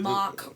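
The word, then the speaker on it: Mack: The way you pronounce it though it sounds like mock ride.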